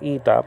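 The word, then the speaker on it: ήτα: nowadays kovita but anyway eta nowadays called ita but we're not talking about uh modern greek and then the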